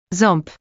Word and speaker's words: Ząb: To make these sounds, your mouth position resembles saying ow or n, but you need to direct some airflow through your nose simultaneously. Try holding your nose gently while attempting the sound. If you can feel resistance, you're making the nasal quality correctly.